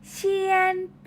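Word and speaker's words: 铅笔: ดินสอ ดินสอ นั่น เอง ใน ภาษา จีน พูด ว่า เซียน บี๋ เชียน ปี ออก เสียง ดี ๆ นะ คะ เชียน ปี่ ช้า ๆ ค่ะ มี ดินสอ เอา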